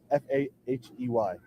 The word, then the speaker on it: Fahey: F-A-H-E-Y. Fahey. You spell it as it sounds.